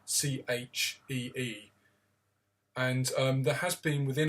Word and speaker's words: Qi: There's no word you would find in modern English for chi, which is spelt Qi, but it's pronounced more of a Chee.